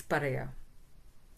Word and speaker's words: paraya: So that's how we pronounce it, pariah. But in Tamil it's paraya.